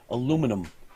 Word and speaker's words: aluminum: Why do you guys call it aluminum? Yes, it's aluminum. Aluminium.